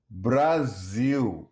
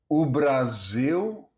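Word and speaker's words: Brasil: Next, the final L sounds like oo in Brazilian Portuguese.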